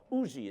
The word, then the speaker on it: Huger: U Benjamin Huger or Uji is the way he pronounced it.